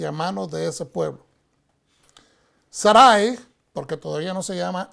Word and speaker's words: Sarai: Sarai, porque todavía no se llama Sara, Sarai desespera, y quiero mencionar esto, normalmente en español decimos Sarai, pero el nombre es pronunciado correctamente Sarai, desespera en su espera